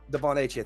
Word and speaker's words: Achane: Devon Achane, thank you.